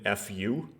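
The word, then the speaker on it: ふ: like a hiragana that the romanization of it is usually written FU, like just like the letters. But if you hear it pronounced, it doesn't really sound like fu. It's like it's different.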